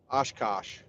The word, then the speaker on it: Oshkosh: Oshkosh. That's how you pronounce it, Oshkosh.